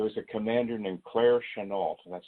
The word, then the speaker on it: Chennault: And there was a commander named Claire Chennault, that's how he pronounced his name, who was head of the American airmen attached to the Chinese Air Force fighting against Japan.